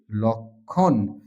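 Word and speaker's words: লক্ষ্মী: আমি লিখে রেখেছি যুক্ত ব্যঞ্জনের সঙ্গে যদি ম ফলা যুক্ত থাকে তাহলে তা উচ্চারণ হবে না। সেটা অনুচ্চারিত থাকবে। যেমন লক্ষণ আমরা উচ্চারণ করি লক্ষণ।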